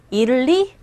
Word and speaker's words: Italy: 그런데 원어민 입에서 나오는 정확한 발음 뭐다? Italy. 시작. Italy. Italy. Italy. 뭘 잃어? 이를리, 어들리. 네. 이를리. 첫 번째 강세 주시고 따라하세요. 이를리.